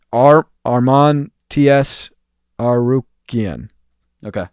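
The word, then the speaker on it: Tsarukyan: Tsarukian. Okay. Tsarukian, that's how you say it.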